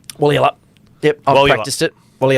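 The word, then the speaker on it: Walyalup: And that's the pronunciation, Wally up? Wally up. Yep, I've practiced it. Wally up. You've got to say it quick, just like Russian tennis players.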